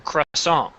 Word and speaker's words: croissant: english word it is now but croissant or crush song p is solon the t is silent because it's a french word jean poco